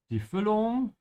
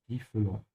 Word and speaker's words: Füllung: Die Füllung. The filling. Sehr gut. If you're having trouble pronouncing the Ü sound, make sure to stretch your tongue forward.